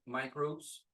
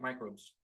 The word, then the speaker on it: microbes: So this particle, microbes, is always pronounced this way, micro, like Microsoft or microscope, okay, microbes, microbios, of course.